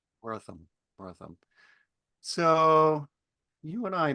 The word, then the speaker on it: Wortham: Tell me the correct family pronunciation. You got it correct. Tanner Wortham. Wortham, Wortham.